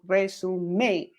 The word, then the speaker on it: résumé: But yeah, there are accents because it's French. Yeah, because that's the stress. That's why it's called resume, because it's too stressed.